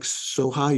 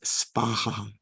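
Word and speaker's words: svāhā: to pronounce the mantras uh as they are pronounced in Sanskrit Okay so you can you can choose if you like Soha you can say Soha but uh generally in Sanskrit it's spaha thank Jennifer yes thank you so much honorable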